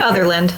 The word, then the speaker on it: Otherland: Otherland. Otherland. That's what I thought. Just like other and land.